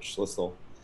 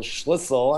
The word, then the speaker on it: Schlissel: gets on he goes whistle sounds like schlissel because that's how i tell people to pronounce the name that's exactly what you